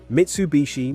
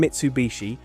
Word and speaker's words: Mitsubishi: Interestingly, even the name Mitsubishi ties directly to the design Mitsu means three, and heii, often pronounced bishi when combined, means water chestnut, a